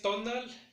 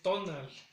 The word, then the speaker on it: tonal: Para el día que es tonal, el acento va a recaer o el sonido más fuerte va a recaer en la primera sílaba, que es tonal.